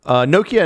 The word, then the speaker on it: Nokia: The Americans don't pronounce it because they don't really sell phones here. I mean, they do kind of now. Nokia. But Nokia. Nokia. And I don't know how they say it in India and Japan and China and the other places that they sell phones. But we go with the Nokia because that's how the Finns say it.